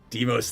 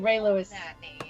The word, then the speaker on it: Deimos: Deimos the Raven It is sounds just like Ray Lewis. No, it's Deimos. spelled Raylews. Yeah. Well, just like that. All the other letters are silent. The Z is silent. It's the Greek god of terror.